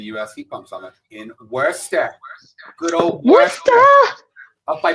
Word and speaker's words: Worcester: Yeah, we never say the name wrong, Ty, ever. It's Worcester.